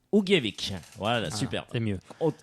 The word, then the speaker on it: Ugljevik: Alors, ça se dit Ugljevik. Ugljevik, voilà, super.